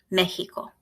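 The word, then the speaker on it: México: examine in some words like the word Mexico it sounds like an H mythical there isn't a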